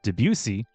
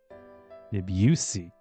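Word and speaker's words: Debussy: L by Claude Deucey, which is how you say that name. Debuse. Not anything else.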